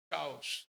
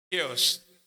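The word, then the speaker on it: chaos: चाओस, केओस, मैंने चाओस बोला था, भाई ने बोला चाओस नहीं केओस।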